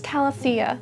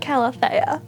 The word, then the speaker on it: calathea: recreate is the pinstripe calathea. Um, I don't know if I'm saying calathea right. I should Google that. Calathea. Calathea. Apparently, it's cala-thee-uh, not cala-thay-uh.